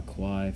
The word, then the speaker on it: aquae: Again, the AE is pronounced I. So aqua, aquae, feminine, or aqua, and then dash I, feminine.